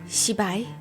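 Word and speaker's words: 失败: Shibai?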